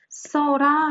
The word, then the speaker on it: 써라: 어라 를 붙혀 볼게요 그는 쓰라 라고 해야 봤지만 실제로 온 어떻게 발음 하죠 써라 라고 발음 이에요 물론 표기를 이렇게 하구요 그럼